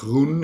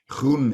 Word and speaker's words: Gruen: was another excellent one as a dutchman i of course like to pronounce the word roon as as we do it in dutch and i know that hardly anybody outside of the borders of our country is able to do so but that means green